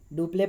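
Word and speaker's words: Dupleix: डुप्ले पढ़ेंगे हम इसे प्रोनाउंसिएशन में, स्पेलिंग आप उस तरह से लिखोगे।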